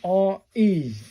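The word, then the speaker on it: れ: R-E. This wasn't going to be a complicated number. R-E, pronounced like the R-E in rent.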